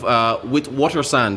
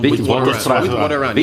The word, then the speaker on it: Witwatersrand: Students at the University of Witwatersrand, I think that's the pronunciation, Witwatersrand, yes, in Johannesburg, they were prevented from registering for a new semester because they failed to secure state subsidies.